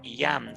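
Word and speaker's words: ים: Esa Y y esa M que usted ve ahí se pronuncia en hebreo Yam, que quiere decir mar.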